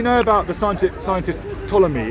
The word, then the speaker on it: Ptolemy: about the scientific scientist Ptolemy it's a weird spelling any any name that's spelled strange is difficult to remember but it's spelled p t o l e m y Ptolemy okay the ptolemaic uh